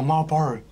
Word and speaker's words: Marlboro: You know, Marlboro, the cigarette company. I feel like you're not pronouncing it right. Marlboro. Is it? It's Marlboro. Marlboro.